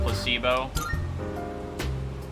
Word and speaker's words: placebo: I a freaking placeo the stress is on the middle you're going to you're going to you're going to teach me about Placebo very good you're figing